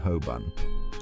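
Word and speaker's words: Holborn: or how about hban it looks like hbor but locals say Hoban asking a local for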